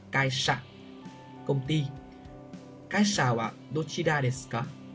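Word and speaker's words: 会社: Chữ hội, chữ xã đọc là Kaisha.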